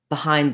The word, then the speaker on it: behind: about with electric that behind is stressed on the hind sound syllable excuse me so this first syllable if i'm just looking at this word and saying it by itself i might say behind because my mind is influenced by the spelling of the letters b e to say more